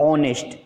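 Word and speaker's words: honest: अब इसमें देखिए ऑनेस्ट जो है एच से शुरू है, कॉन्सोनेंट से शुरू है, लेकिन साउंड ओ से आ रही है, ऑनेस्ट, क्योंकि यहाँ एच जो है वो साइलेंट वर्ड लेटर है, साइलेंट लेटर है।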